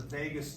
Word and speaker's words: vagus: is the vagus nerve, and it's spelled this way, not like what happens in Vegas. It's not spelled that way, it's spelled this way. Vagus. Vagus. Vagus.